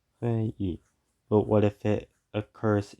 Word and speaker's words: 회의: but when it comes at the end of a word, it's pronounced as 이. 회의. 회의. 회의.